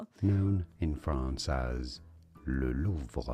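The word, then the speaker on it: Louvre: The name of this museum located in Paris known in France as Lulu.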